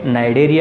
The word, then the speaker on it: Cnidaria: सी इसमें साइलेंट है, नाइडेरिया इनको कहा जाता है।